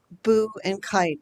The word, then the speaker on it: Buchheit: B U C H H E I T and that's pronounced boo and kite, like a little ghost saying boo flying a kite.